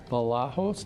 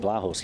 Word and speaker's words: Balajos: I-roll third-party suppression system compliance reporting presented by Balajos. Did I pronounce it right? You did, Balajos, yes, very good, thank you.